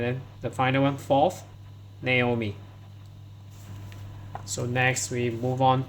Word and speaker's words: Naomi: So many people pronounce it wrongly, so not Naomi. So this is Naomi.